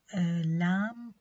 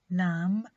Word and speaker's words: lamb: And also B is silent in some words like thumb, lamb and plumber. Thumb, lamb and plumber.